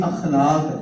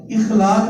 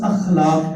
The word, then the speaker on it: اخلاق: احسنہم خلقا، جس کے اخلاق اچھے. اور اس کو بھی سمجھنے کی ضرورت ہے. ہمارے ہاں لفظ بولا جاتا ہے اخلاق، اخلاق نہیں ہوتا، اس کا تلفظ اخلاق ہے.